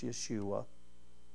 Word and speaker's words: Yeshua: call him Jesus but his name is the same as Joshua it's Yeshua that's how you would pronounce it in Mark chapter 1